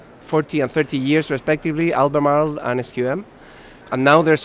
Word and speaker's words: Albemarle: In Chile, we say Albemarle because in Spanish it's much easier to pronounce, but the real name is Albemarle.